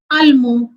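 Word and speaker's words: allemands: Here the nationality is ending with D, so we will not pronounce D. And it is plural, then we will add S. And the pronunciation will be ils ont allemand.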